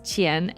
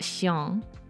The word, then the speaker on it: Chien: the French pronunciation, but I just discovered it is Qian, not Xiang.